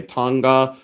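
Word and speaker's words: thangka: I always say Thanga. Some people say Tonga. I've heard it pronounced several different ways.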